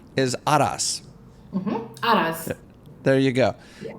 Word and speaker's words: Araz: say your name properly, Aras. So you want to put the emphasis on the first A and then roll the R a little bit, which you gave me